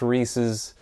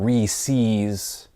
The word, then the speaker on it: Reese's: a reese's piece goes to and also it's pronounced reese's uh not re-seas you know and if you say reese's you